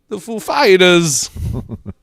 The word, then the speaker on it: Foo Fighters: He said, "Is the accent on the Foo or the Fighters?" He said, "The Fighters, ladies and gentlemen, the Foo Fighters."